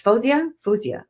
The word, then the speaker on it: Fozia: I'm a huge fan of hers, by the way, and I'm always self-conscious that I'm saying her name wrong, but it's Fozia.